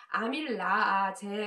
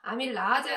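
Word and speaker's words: amylase: 여러가지 과학계 나오는 용어들이 미국식 에 발음으로 바뀌면서 아밀라아제 라고 독일 식으로 배웠던 것들을 은 우리 아이들은 지금 현재는 아벨 에이즈 라고요 거든요 그래서 똑같은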